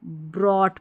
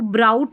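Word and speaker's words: brought: वैसे ही इसको ब्रॉट पढ़ेंगे। इसको ब्राउट नहीं पढ़ना है।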